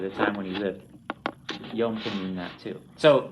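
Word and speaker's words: יוֹם: Repeat after me, yom.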